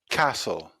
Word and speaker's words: castle: on now to the letter t butcher butcher castle castle listen listen often often although sometimes this